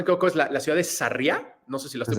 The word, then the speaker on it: Sarria: si no me equivoco, es la ciudad de Sarriá, no sé si la estoy Desde pronunciando Sarria, bien.